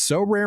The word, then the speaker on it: Sorare: And unlike other fantasy baseball platforms, So Rare managers truly own their fantasy experience, collecting, buying, selling, and competing with player cards against global opponents to win epic rewards.